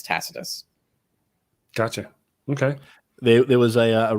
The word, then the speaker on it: Tacitus: quite passionately she was yeah that's it Tacitus yes I mean that's the modern english rendering obviously in the latin fe pocketers but but but in in the sort of british tradition it's Tacitus gotcha okay there was